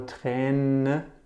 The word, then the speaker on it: Träne: You remember Träne, like a train, the tear.